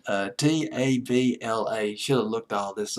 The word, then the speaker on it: tabla: He played an instrument called the tableau. Boy, I'm having a pronunciation hemorrhage tonight. Tabla.